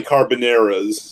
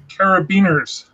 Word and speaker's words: carabiners: Well, I was disappointed by Carboneras, if that helps. Carabiners.